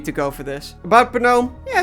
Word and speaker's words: Gnome: Number 4, Gnome. Yes, that is how it's pronounced.